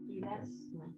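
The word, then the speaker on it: ἱλασμός: Ilasmos con h. Así se escribe hilasmos en hebreo.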